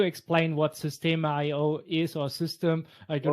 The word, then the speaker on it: Systeme: it's actually system, like the normal spelling, the normal saying of system, but it's just the French spelling.